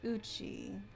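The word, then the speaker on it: 家: So this, I believe this kanji is pronounced as uchi.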